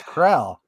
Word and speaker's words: Kroll: I have a friend with the exact same name, and it's Krell. Krell.